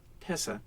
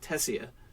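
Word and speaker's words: Tesia: T-E-S-I-A, and the I is supposed to be silent. Tessa, instead of Tessia.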